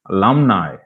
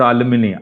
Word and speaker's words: alumni: july not july july alumni alumni not aluminium alumni hereafter many people who